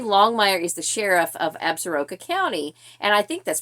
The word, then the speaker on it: Absaroka: And book 3, Absaroka Ambush, he could not pronounce correctly, or did not pronounce correctly, and I don't know how this got past all the producers and people, but he said Absorka.